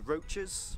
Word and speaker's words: Roaches: This area is called the Roaches, which is, again, you know, it's a very strange name. Not like cockroaches, but kind of roaches. It is spelled the same.